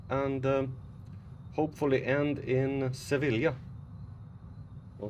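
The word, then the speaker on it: Sevilla: um hopefully end in sevila or Seva however it's supposed to be pronounced I know it's two L's so it's a j Spanish is weird um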